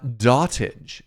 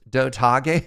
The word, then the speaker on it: Dotage: uh yeah uh dotage doag what do you think how do you think this is pronounced doag or dotage oh it's dot age oh I was wrong